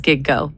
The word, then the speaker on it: gigo: Is there a color that's G O like go like gig and go. It's two syllables. It literally says giggo.